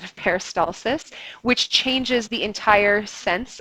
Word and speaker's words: peristalsis: is something called peristalsis peristalsis is a word that people mispronounce with high-frequency when they speak it out loud if you were going to say use the word peristalsis in an assignment please pronounce it correctly you might have noticed I don't know if any of you picked this up in one of those samples I played you they said paralysis instead of peristalsis which changes